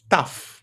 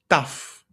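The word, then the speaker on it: ταυ: T uppercase lower case and we pronounce that tough. That's how we call it tough.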